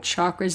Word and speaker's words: chakra: And I also recognize that the true pronunciation of chakras is chakra.